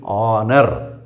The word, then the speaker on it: honour: அது ஹானர் கிடையாது, H silent, ஆனர். இப்போ அதுக்கு முன்னால் ஏ போடுவீங்களா ஆன் போடுவீங்களா? ஹானர் அப்படின்னு சொன்னால் ஏ போடணும். பட் அது ஹானர் இல்லை, இட் இஸ் ஆனர்.